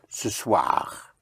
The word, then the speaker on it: ce soir: In French, you say this evening, which is ce soir. Ce soir. Ce soir, like in soirée, soir, ce soir, this evening or tonight.